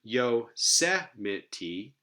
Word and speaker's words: Yosemite: So here, Yosemite has stress on the third to last syllable.